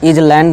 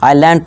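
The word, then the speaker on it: island: एस हमारा silent होगा इसे इस तरह इज लैंड नहीं पढ़ेंगे इसे आईलैंड पढ़ेंगे इसी तरह हमारा क्या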